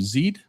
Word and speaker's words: Zid: Zed or Zid. How do you say your name? Just just explain it. How do you say your name? Just Zid.